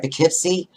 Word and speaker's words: Poughkeepsie: There's a great place in, I hope I say this right, Poughkeepsie. It's Poughkeepsie, yeah, it's the Chance Theater.